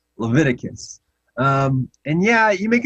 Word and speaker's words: Leviticus: said that we shouldn't eat owls in levitic levictis hopefully our pellets are okay georgie i think you're okay there uh and and you're really close that book of the bible is actually pronounced leviticus um and yeah you make a good point